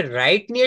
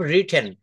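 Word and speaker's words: written: করে আমি যদি এখানে রাইট নিয়ে আসি I will রাইট I will be রাইটিং I will have রিটেন দেখেন এটা রাইটেন বলবো না কারেক্ট প্রোনাউন্সিয়েশনটা আমাদেরকে শিখতে হবে রিটেন রিটেন আপনি যখন ফরেন কান্ট্রিতে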